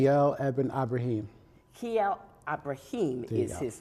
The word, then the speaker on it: Kyle Ibrahim: his name, so you give me the correct pronunciation. Kyle Ibrahim.